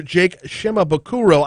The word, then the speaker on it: Jake Shimabukuro: many many other legends ukulele virtuoso and composer jake shimabukuro i hope i'm pronouncing that right okay i do nailed it